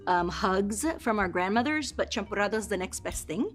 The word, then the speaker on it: champurrado: So the champurrado? Yeah, that's perfect. Okay. That's pronouncing it correctly?